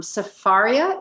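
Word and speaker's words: Sefaria: question because i looked up ecclesiastes in um safaria is that how you pronounce it yes and the way they re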